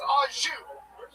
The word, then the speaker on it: au jus: A French dip is so luxurious, that shit comes with no dipping sauce, and that dipping sauce is pronounced au jus.